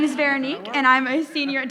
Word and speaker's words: Veronique: This is it Veronica? Thank you. What a pretty name, and I said it wrong. Veronique.